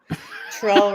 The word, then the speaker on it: Trull: yeah rhymes with doll troll rhymes with doll I have you and